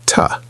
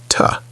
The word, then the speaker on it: to: To is usually pronounced as a very short, weak sound, a bit like ta, not a strong to sound. In careful or emphatic speech, it can sound like to, but in everyday flow it is reduced to ta.